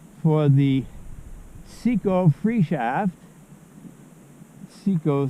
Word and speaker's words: Cziko: Cziko, C-Z-I-K-O is my last name. Cziko is the Hungarian pronunciation. I typically say Cziko in English, although my family members tend to say Cziko, who share the same name and who call me by that.